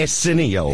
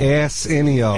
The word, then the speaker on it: Arsenio: I don't think you're pronouncing his name right. What is his name? Arsenio. Arsenio.